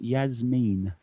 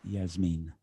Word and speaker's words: Jasmin: Yeah, I was reading up on Jasmin earlier, and her name is actually, according to Wikipedia, pronounced Jasmin. So ruins my jumping genius, Jasmin, slightly. But yes, apparently it is Jasmin.